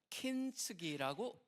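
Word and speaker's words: 金継ぎ: 그게 뭐냐면 사실은 이게 이제 금자가 앞에 들어갔기 때문에 일본어로 킨이라고 그러죠. 킨츠기라고 읽습니다.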